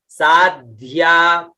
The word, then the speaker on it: साध्या: होगा तो कैसे होगा, साध्या, साध्या, द भी निकलना चाहिए और ध भी निकलना चाहिए, साध्या, है ना, साध्या।